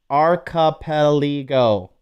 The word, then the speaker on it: archipelago: Archipelago. Okay, emphasis on the ka.